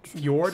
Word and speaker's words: fjord: It has the fjord, is that how you say it?